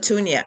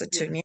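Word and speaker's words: Mosi-oa-Tunya: Is that how you pronounce it? Musatunia, yeah, Yes, Musatunia.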